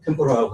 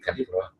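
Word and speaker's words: 天ぷら: 일본 튀김을 이제 템포라라고 하잖아요. 이게 원래 이제 템푸라. 그렇죠, 템푸라. 템푸라를 이제 미국 사람 템포라라고 얘기를 하니까. 저번에 일본 사람이잖아요. 맞죠? 템푸라. 진짜 일본 발음 나왔어요.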